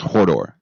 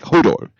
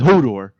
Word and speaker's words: Hodor: Maybe it's Hordor, but he always says like Hodor. Yeah, that's what I thought. He says Hodor.